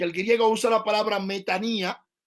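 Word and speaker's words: μετάνοια: Que el griego usa la palabra metanía y la gente la mal pronuncia y dice metanoia, pero es metanía, que es un cambio de idea, de mente, de parecer y todo eso.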